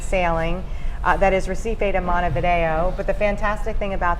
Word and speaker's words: Montevideo: alive at night nice i like when you pronounce it correctly montevideo oh i was just there actually in december